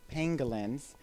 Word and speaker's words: pangolins: so I say pangolins or pangolins it's actually pronounced pangolins and these guys are the armored ambassadors and